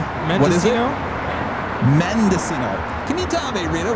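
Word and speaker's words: Mendocino: It is from Monosito Farms and it claims to be Oh, did I say it wrong? Rita Mendesino.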